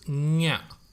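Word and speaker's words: ಞ: The pronunciation of this root consonant is nya. Okay, nya. Nya. Once again, it may sound funny, but that is how it is pronounced. Nya.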